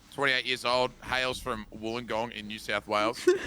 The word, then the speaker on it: Wollongong: 28 years old, hails from Wollongong in New South Wales. Wollongong rhymes with one of the major utensils they used to have fun back in the day, down there in the gong. It's a bong.